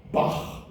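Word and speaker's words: Bach: a man by the name of Johan Sebastian Bak you've heard of B it is that sound which is spelled CH H that we in English would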